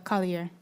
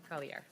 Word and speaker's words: Collier: It's Collier. Collier, French.